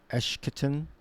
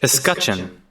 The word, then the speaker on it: escutcheon: Coat of arms, the heraldic visual design of Eshketon, shield, surcoats, and tabard. All right, the coat of arms on, let me get that pronunciation. Escutcheon.